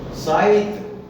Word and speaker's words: scythe: साइथ, SCYTHE, साइथ, साइथ माने हंसिया होता है, और